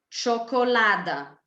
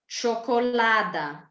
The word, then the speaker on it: čokolada: So C, center, Č, čokolada, J, yogurt, S, sandwich, Š, šport, Z, zebra, Ž, žirafa.